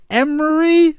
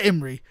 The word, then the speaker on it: Imrie: Helen Mirren, Pierce Brosnan, Ben Kingsley, Celia Emery. I don't know how to say her name. I also my mind is going blank on how it's spelt. Celia Imrie.